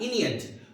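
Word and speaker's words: Aeneid: जी हाँ, अनीड का जो है, अनियट या इनियट, दोनों इसके प्रोनाउंसिएशन है।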